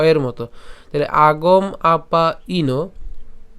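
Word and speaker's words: আগমাপায়িনো: ঠিক আছে তাহলে পাইন যদি উচ্চারণ করি তাহলে উচ্চারণটা কেমন হবে আগম আপাই আগম আপাইন ঠিক আছে আগম আপাইন এরপরে এখানে যে আমরা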